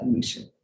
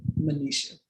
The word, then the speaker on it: Manisha: Not Amisha, Manisha.